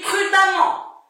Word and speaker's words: prudemment: Et comment on prononce ce suffixe? On ne le prononce pas ement, mais on le prononce amant. Amant. Des exemples, prudent. Hein, il est prudent. Il conduit prudemment.